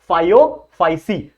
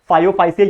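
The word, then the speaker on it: Phaeophyceae: जो भी इसका प्रोनाउंसिएशन है सही तरीके से आप बोल लो, मैं तो बोलता हूं इसको फायोफाइसी।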